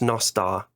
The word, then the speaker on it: Nostr: no star nostal but it seems that people are starting to pronounce it Nostra which is completely wrong so it's nastar hey and Ben you